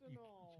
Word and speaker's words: Anal: It's a null. Yeah. Or a null. You can't. It's pronounced a null.